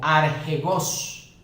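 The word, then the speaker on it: ἀρχηγός: representa sería archegón, y la pronunciación sería algo así como archegos.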